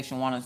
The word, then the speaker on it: Shawana: So, for those of you who don't know how to say Shawana's name, it's Shawana. You gotta say it like Michael Jackson. That's how you get the syllables right.